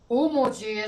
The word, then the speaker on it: HOMUCE: What's the ending sound? Homoji. Homoji is that black pepper like you have on your table. Yeah, but what's that ending sound though? That's how you spell it. I'm sorry. Oh, okay. Homoji is HOMUCE.